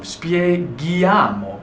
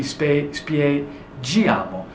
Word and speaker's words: spieghiamo: The same thing with the noi form, spieghiamo, but without the aka, it would be spiegiamo.